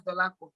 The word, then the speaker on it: Dolapo: So why not go fit pronounce Dolapo? 3 syllables.